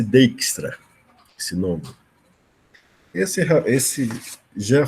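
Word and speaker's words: Dijkstra: esse bjks TR a né se pronunciasse dextra se logo essa esse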